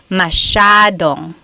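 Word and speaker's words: masyadong: So the s ya is a sha sound. Mashong.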